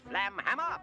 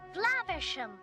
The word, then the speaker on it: Flaversham: Yeah, there's a running joke about Basil mispronouncing the last name Flaversham. Flamhammer. Flaversham. Whatever. Miss Flanchester. Flaversham! Whatever. Miss Flank. Whatever. Whatever. Which I guess is cute, except for the fact that he clearly pronounces it correctly later.